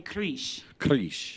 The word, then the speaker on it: Kriz: for my own satisfaction usually people say creesh yeah you roll the r a little bit it's supposed to be yeah and actually the z yeah but creesh is fine what happened